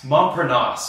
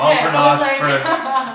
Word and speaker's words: Montparnasse: the role of, I don't know how to pronounce that. Montparnasse. Okay, Montparnasse for the unversed, or the Les Mis fanatics. Montparnasse.